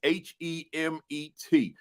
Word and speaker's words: Hemet: That's Hemet. Those of you that in the conscious community sound like Kemet, don't it? Right? But it's spelled that way, but with an H, Hemet, right?